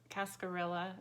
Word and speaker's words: cascarilla: i don't practice santeria this is it's a cascarilla is how it's pronounced it is powdered um eggshells it's good